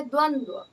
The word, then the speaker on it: द्वंद्व: यह भी गलत है द्वंद शब्द है द्वंद दो बार वा का उच्चारण निकल रहा है दो बार हम उच्चारित कर रहे हैं व को तो दो बार व रहेगा आप य य ध्यान